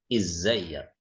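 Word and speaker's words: إزيك: Izzayyak. Kalau saya tanya ke laki-laki, pakai fathah di sini. Ya-nya fathah. Izzayyak.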